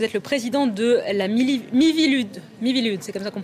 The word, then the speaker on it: Miviludes: Vous êtes le président de la Miviludes, c'est comme ça qu'on prononce, la mission interministérielle de vigilance et de lutte contre les dérives sectaires.